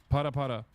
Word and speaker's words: Para Para: This time not twerking, but this time specifically pare pare. Is that how you say it? I'm putting Miskiff through another humiliation ritual. Yes. Para para.